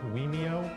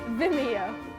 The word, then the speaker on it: Vimeo: Wait, can you say it like Vimeo or like Wemeo or like... Vimeo. Vimeo?